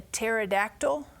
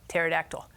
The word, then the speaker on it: pterodactyl: can't you hear a pterodactyl why can't you hear a pterodactyl go to the bathroom and the reason why hmm this is because the P is silent I know pterodactyl but I know is